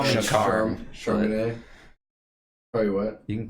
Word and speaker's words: Charmaine: It's Charm, Charmaine.